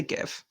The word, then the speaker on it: GIF: just know the gif do you people say jiff for gift people i say give i mean if it was jeff it be spelled with a j jiff remember jax just